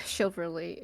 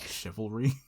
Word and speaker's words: chivalry: We'll say like with shiverly shiverly with how do you say this word? Chivalry.